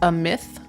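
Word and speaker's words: Amit: the way it's pronounced a myth is it a is it th at the end of that no there's no th well but that might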